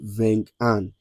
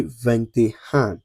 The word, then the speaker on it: vingt et un: one, you don't say vingt un. You don't say trente un. You don't say quarante un. You don't say cinquante un. You don't say soixante un. No. You say vingt et un.